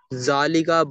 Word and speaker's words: ذلك: नोट, जालिका is pronounced जालिका बट इट is written without the अलिफ.